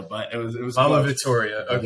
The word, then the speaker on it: Vittoria: Vittoria. Okay, Vittoria.